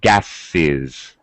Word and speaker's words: gases: okay glass becomes glasses what we're doing is we're adding a Sy one syllable as well gas one vowel sound one beat or one syllable when I make it plural gases becomes two syllables Glass glasses nose nose